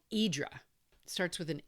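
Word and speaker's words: Hydra: Uh, it was called Idra. starts with an H, spelled H Y D R A, but it's pronounced Y Idra.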